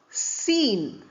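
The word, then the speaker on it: scene: Look at the words seen. Although S c E N E is there, it is pronounced as sir only.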